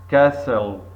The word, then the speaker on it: castle: walk walk L silent seven castle castle T sign eight window window window